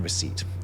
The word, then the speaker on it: receipt: The P in receipt.